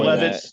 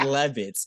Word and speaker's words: Levis: You said Levitz. It's not Lenny Kravitz, okay? Same city. There's no T in it, bitch.